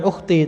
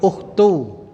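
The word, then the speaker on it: أختُ: ukht apa saudari itu bacanya bukan Ukhti tapi ukhtu domah tanpa tanwin dah tanpa tanwin itu kalau dalam Nahwu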